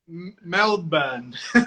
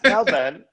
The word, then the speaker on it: Melbourne: Melbourne. Melbourne. You don't pronounce the R.